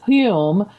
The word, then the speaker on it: Home: And then Daniel Douglas Hume, which is spelled like Home, like home.